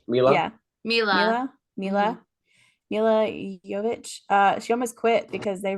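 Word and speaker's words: Milla Jovovich: I'm gonna say her name wrong. I think it's Milo Jovovich. Mila. Yeah. Mila Jovovich.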